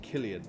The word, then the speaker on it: Cillian: Is it Cillian Murphy? How you pronounce Cillian? So I'll bear that in mind. Killian, got it.